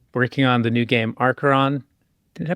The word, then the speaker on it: Arkheron: working on the new game Archeron. Did I pronounce it right? You did. Good job. I always tell people just imagine the H is silent when you pronounce it.